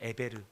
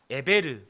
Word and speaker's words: 에벨: 여러분, 아브라함을 히브리 사람이라고 불렀는데, 이 셈의 손자 에벨, 우리는 에벨이라고 적지만 발음은 에베르입니다. 에베르. 뭔가 발음이 비슷하죠? 에베르, 히브리.